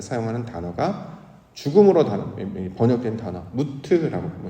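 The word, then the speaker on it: מות: 이렇게 끊어지고 단절되어서 영적인 변화를 나타낼 때 사용하는 단어가 죽음으로 번역된 단어, 무트라고 발음을 하는데 이 단어였습니다.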